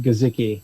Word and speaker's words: Guzicki: It's actually pronounced Guzicki.